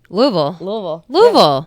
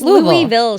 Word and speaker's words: Louisville: Louisville. Yeah. Guys, how hard is it? None of this Louisville shit, all right?